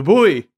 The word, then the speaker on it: buoy: term that I've used in the past the buoy the boy boy it's the it's the worst word in